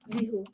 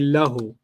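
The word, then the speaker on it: لَهُ: Lihu. Hu. But they don't say li. They say lahu.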